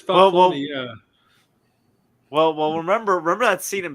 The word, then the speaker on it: Falcone: I thought it's not Falcone. It's Falcone.